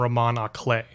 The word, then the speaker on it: roman à clef: Like Here's what I think of when I hear the term roman à clef. Which is how it's pronounced, by the way.